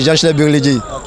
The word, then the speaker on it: Gençler Birliği: Alors, prononcez-moi le nom du club où vous jouez exactement. C'est Gençler Birliği. Gençler Birliği, alors vous arrivez là, c'est l'ancien club de